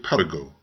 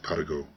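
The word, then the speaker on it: Paragot: is the story of Perrigo the beloved vagabond please pronounce his name French fashion and if I have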